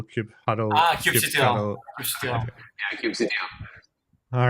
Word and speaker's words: kubectl: Sorry, I'm now just asking how you pronounce kubectl. Is it kube control, kube huddle?